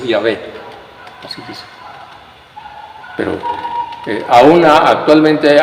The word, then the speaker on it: Yahvé: En la enciclopedia dice claramente, Jehová, falsa pronunciación del nombre de Dios que debe ser Yahvé.